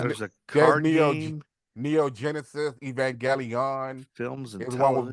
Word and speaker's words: Evangelion: There's a there's card game, Neo Genesis, Evangelion. films, and Is one with big television. robots. I'm still mad that that's a hard G. Evangelion is how it should be pronounced. That's what it looks like.